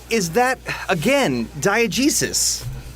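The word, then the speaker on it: diegesis: PA and oh yeah like is that again diogesis like did I say it right yeah perfect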